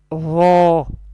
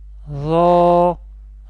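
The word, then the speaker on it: ر: Ro will be pronounced from the top of the tongue and the inner edges of the upper teeth.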